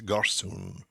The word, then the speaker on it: gossoon: Interesting word there, gossoon, Gossoon. The Irish word for a country boy basically is garsoon. It's spelt in Gaelic Garsu with an accent N. And it's basically the same as garçon, the French for boy.